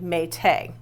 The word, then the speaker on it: Mai: So we pronounce this now as mai because that's how it's spelled. M ai t ai, but the original pronunciation was actually mate.